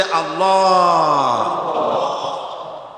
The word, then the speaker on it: আল্লাহ: আল্লাহ এই উচ্চারণটা আমাদের অনেকের হয় না, কেউ বলে না আল্লাহ। আল্লাহ পাকের উচ্চারণটা হচ্ছে, আল্লাহ পাকের নামের উচ্চারণ হচ্ছে আল্লাহ। মুখটা একটু গোল হয়ে যাবে, বলেন আল্লাহ আল্লাহ।